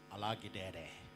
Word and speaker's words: Alagidede: I was told it's Alagidede.